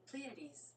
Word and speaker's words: Pleiades: The Pleiades? That's how you say it? Pleiades.